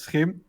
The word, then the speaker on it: SCHiM: I think that's easiest so that's s cim that's skim because uh it's good to pronounce it like that uh and you can